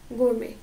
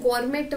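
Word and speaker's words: gourmet: food and drinks तो उसे हम क्या कहते हैं गोरमे ठीक है इसको गोरमेट वगैरह नहीं बोलना एक आइसक्रीम भी आती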